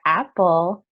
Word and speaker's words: apple: So for apple, it's a sound, not an A sound, right?